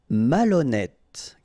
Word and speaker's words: malhonnête: Malhonnête. Okay, remember H doesn't exist, so malhonnête. Don't insist on the final E. Malhonnête. And here you get E accent circonflexe, so you pronounce it like E. Malhonnête.